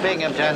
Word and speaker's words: Binghamton: that's uh that's a binghamton there's no pee in that the accent is on the bang what are you waiting